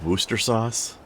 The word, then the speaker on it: Worcestershire: Gordon Ramsay pronounced it just Worcester sauce. What Which a troll. would also be entirely accurate. Would it be? Yes. But he didn't even say Shire. Shire's not in it.